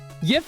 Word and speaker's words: GIF: It's YIF, gamers. YIF is the correct pronunciation. It's an Old English word.